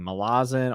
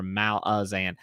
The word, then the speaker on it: Malazan: Also, Super Games Bros was asking Malazan or Malazan. So I actually like the pronunciation of Malazan more, but I've heard Erickson call it Malazan, like Malazan, magician.